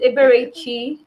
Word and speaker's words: Eberechi: go next to um you're going to help me with your name too the american in me help the american in me thank you today it's uh pronounced eberechi eberichi thank you for your